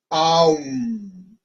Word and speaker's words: Om: Entonces, cuando pronunciamos el OM, tenemos la A, U, AUM.